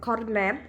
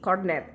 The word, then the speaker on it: Korned: In Indonesia, we call it korned with a T, korned. Even though the writing is with a D, we say or pronounce it with a T.